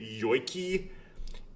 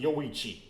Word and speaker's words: Yoichi: someone who speaks English, when I see a CH in that context with those sequence of letters, I tend to pronounce it like a K.